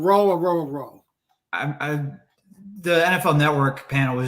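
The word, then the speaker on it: Orhorhoro: He said the H's are silent. So Aurora.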